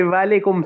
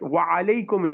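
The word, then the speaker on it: وعليكم: Usually we say walaikum salam. Walaikum is not correct. Wa alaikum is correct.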